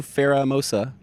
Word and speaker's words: Pheromosa: But I did get the new Pheromosa with the catch card shiny.